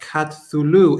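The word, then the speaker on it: Cthulhu: uh chat hulu is pronounced katsulu hp lovecraft kamala kathulu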